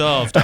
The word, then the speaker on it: Damh: But basically, actually, it's Darve. So the word is pronounced Darve, and it's essentially Gaelic for stag.